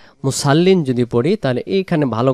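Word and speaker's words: مصلين: লেখা রয়েছে অনেক বাংলাতে মুসাল্লিন। মুসাল্লিন যদি পড়ি, তাহলে এইখানে ভালো করে খেয়াল রাখবেন, এই অক্ষরটার নাম হলো সদ, সদ জবর স।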